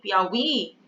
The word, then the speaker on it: Piauí: Piauí, né? Esse i, Piauí, a sílaba forte é a última sílaba.